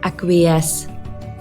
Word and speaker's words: acquiesce: keep in mind that the C in acquiesce is pronounced like an s the word is pronounced acquiesce one way to